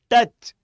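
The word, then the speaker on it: touch: बता रहे थे हां इसको प्रोनाउंसड करो टच ट ए च टच है ना आ रहा है ना ए की साउंड तो बस ये स्पेलिंग में तो यू दिखेगा लेकिन साउंड किसकी आएगी ए इसलिए हम इसको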